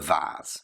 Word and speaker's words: vase: She finally came clean and admitted that it was she who had broken the vase, or the vase, you can pronounce it either way.